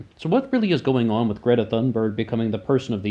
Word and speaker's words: Thunberg: Like, I noticed when Greta talks, she pronounces her last name Thunberg, and my West Virginian pronunciation is still carrying onward.